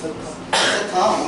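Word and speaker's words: theta: 세타? 이거 줄 알아? 이거 앞으로 보면 별뱅이나 읽으면 안 돼. 번데기 별뱅이나 읽으면 안 돼. 이거 세타라고 읽어, 세타.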